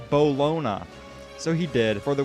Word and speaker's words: Bologna: He was on a roll, so he was like, "I'm gonna chill here, in the city that's named after that weird meat, but it's actually pronounced Bologna."